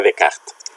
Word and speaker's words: Descartes: pensamiento de René Descartes, o si queremos pronunciarlo más correctamente, René Descartes, que como sabéis es